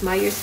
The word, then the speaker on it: Meijer: Myers pala yung pag-pronounce nun guys.